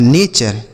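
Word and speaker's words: nature: जैसे एन ए से पढ़ेंगे ने और टी यू आर ई को चर। यह लिखा है नेचर।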